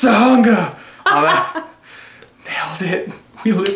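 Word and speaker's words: Tujunga: It's pronounced Tahunga.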